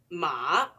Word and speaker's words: 马: The third tone rises from low to high.